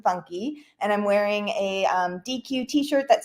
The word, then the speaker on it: Deque: How do I Yeah, pronounce it's actually DQ.